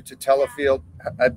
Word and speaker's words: tadalafil: Some people do tadalafil. Proper pronunciation is?